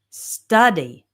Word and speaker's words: study: These are two-syllable verbs with the stress on the first syllable. We have answer, travel, study, okay?